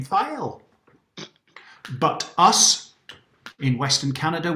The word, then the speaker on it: Fail: it fail absolutely not his mother and father gave him the name file but us in western